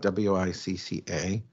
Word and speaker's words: Wicca: And so the words Wicca and witche have the words CC, but in Anglo-Saxon, that is pronounced with the ch, as in chip.